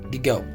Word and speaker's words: gigot: But the pronunciation of this is gigot.